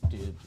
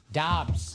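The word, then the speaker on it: Doubs: I know it's Dobs, but Dubes. How is it pronounced? Dobs.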